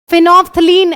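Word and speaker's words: phenolphthalein: फिनोफ्थलीन L silent है।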